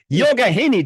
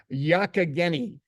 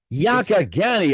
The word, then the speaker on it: Youghiogheny: And here's one I had a little tough time pronouncing before I got on. Was it Youghahanny? Youghiogheny. Youghahanny. Did I get that right? No, Mike. Youghiogheny. Youghiogheny.